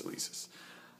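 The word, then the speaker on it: Alesis: kidding I know how to say it it's elisis um they work okay they uh they do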